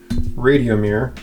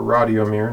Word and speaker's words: Radiomir: It's a Radiomir, or Radiomir, depending how you want to pronounce it.